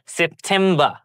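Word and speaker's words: September: আমরা সেপ্টেম্বর বলি, কিন্তু এখানে একটু ব্যতিক্রম, সেপ্টেম্বর, সেপ্টেম্বর। এখানেও আমরা আর উচ্চারিত করব না, আর হচ্ছে সাইলেন্ট ওয়ার্ড হিসেবে থাকবে।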